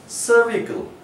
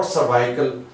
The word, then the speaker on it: cervical: No, this is cervical, cervical। This is short sound of or vowel E, this is short vowel sound E, not cervical, cervical, cervical।